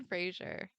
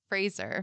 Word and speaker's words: Fraser: know come you know okay okay God Brendan Frazier Fraser my bad he definitely told everyone his name and how to pronounce it my son helped me connect with